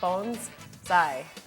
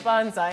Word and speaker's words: bonsai: And I should tell you, Chris told me it's actually bonsai. Did I say it right? Bonsai. but- Because my whole life I've been calling it bonsai, and that's actually not So does right.